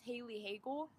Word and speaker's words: Haley Hagel: But yeah, but the Bagels one is, my full name is Haley Hagel, and it rhymes with bagel.